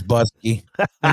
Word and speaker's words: Busky: I know who's playing bass on this Busky. You do. And it rhymes with Husky.